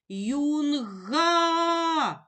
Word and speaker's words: юнга: Юнга. А. Голосний позначаємо кружечком. Поділимо слово на склади. Юн, га. О. слові юнга два склади. Визначимо наголос, покличемо слово юнга. Наголос падає на перший склад, на склад юн.